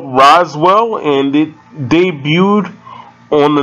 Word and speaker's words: Roswell: show first came out i didn't know how to pronounce it i thought it was rosewell and that's only because i